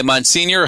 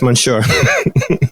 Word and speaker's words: Monsieur: it was purchased by Monsignor Henry Lee Marlin, who we just talked about earlier, who basically built the boatwright shop. That's not Monsignor, that's Monsieur.